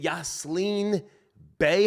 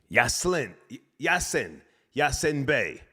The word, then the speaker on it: Yasin Bey: Is it Yaslin Bey? How do you say his name? That's his name now. Is it Yaslin? Great guy, man. Hold on a second. Yasin Bey.